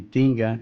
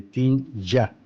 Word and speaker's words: Tinja: Los judíos creen que la palabra Tingis viene de Tinga, y Tinga es una mala pronunciación de Tinja, con Y.